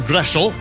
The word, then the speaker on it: Groeschel: of measurement for example my name groshow it's actually German name it should be pronounced gressel and uh if you